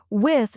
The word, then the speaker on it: with: Tip, pronounce the b, teeth. Sound softly.